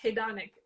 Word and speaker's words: hedonic: Okay, so there's I believe this word is pronounced hedonic. Hid, hid, Dad. Yeah, I actually looked it up. It's hedonic.